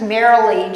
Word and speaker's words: Merrily: my email as well my first name is Marilee just like the word merrily we roll along em e RR